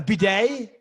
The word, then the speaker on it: bidet: A bidet? Yes. They're pronounced B-day, whatever.